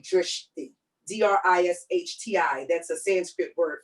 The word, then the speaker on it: drishti: You can say drishti, D-R-I-S-H-T-I.